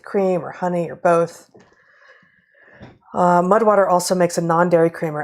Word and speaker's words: MUD/WTR: Okay, our third sponsor, our third and final sponsor this week, is Mudwater. That's MUD/WTR, pronounced Mudwater.